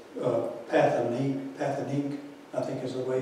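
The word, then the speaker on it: Pathétique: It's Pathanique, I think is the way you pronounce it. Do we have that, Don? Wake up, brother. Pathetique.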